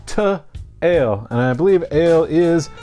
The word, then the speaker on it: To Øl: one to 2l so you might want to just call it tool but it's actually 2l and I believe Ale